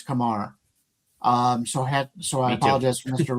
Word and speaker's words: Kumar: It's not Kumar, it's Kamar.